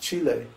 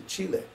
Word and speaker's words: Chile: like everybody in America they pronounced Chile Chile yes oh you're you went to Chile well actually no I went to Chile because in the doesn't it make sense to pronounce the name of the country and the language that's spoken in that country I mean it always made sense to me similarly there really isn't